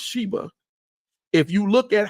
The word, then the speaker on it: Saba: going on in the land of saba which is pronounced Sheba if you look at